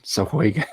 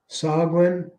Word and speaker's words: Sahuagin: But the question I have for you, just right off the bat, how do you properly pronounce Sahuagin? Sahuagin.